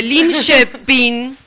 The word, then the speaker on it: Linköping: No, yo no lo quise pronunciar porque tenemos una experta, así que... Se dice Linköping, En una ciudad al sur de Estocolmo.